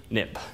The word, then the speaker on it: xib: xcode it became xib but you pronounce xib nip so for historical reasons